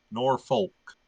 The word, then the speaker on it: Norfolk: that yeah it's not it's not Norfolk it's not they don't they don't they don't really annunciate the L it's norfol norick yeah